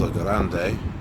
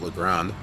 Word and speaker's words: La Grande: Oh, it should be pronounced La Grande. I don't know if maybe in Oregon they just pronounce it La Grande.